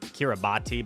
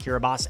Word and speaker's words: Kiribati: The correct answer is Kiribati. Spelled like Kiribati, but pronounced Kiribati.